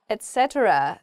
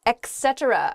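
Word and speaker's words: etc.: need a penguin suit Etc not Etc oh yeah okay I've hear I hear this e e thing a lot it's Etc is just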